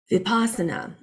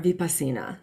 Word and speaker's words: Vipassana: Vipassana or vipassana, depending upon your pronunciations.